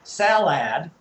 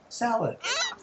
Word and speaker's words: salad: It's two syllables, right? The first syllable is where we put the stress. Sal. And then how's the second part pronounced? We don't say salad. We say salad. And what you get is a brief sound there. That's a schwa sound.